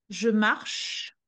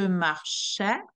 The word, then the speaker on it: marche: je marchais beaucoup pour aller à l'école present je marche je marche beaucoup pour aller à l'école je marchea je marche the sound is created by the